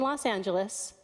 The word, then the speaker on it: Los Angeles: So, here that first part loss is pronounced exactly like Vegas. Las Vegas. Even though in this case the spelling looks like it. And notice the next part. Angelus. The last sound is an is. Isl. Angelus.